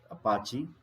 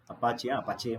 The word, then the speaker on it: Apache: The common one is Apache. Apache म्हणायचं नाही, clear? Apache.